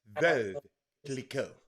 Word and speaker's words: Veuve Clicquot: And Robert, it's pronounced Veuve Liqueur.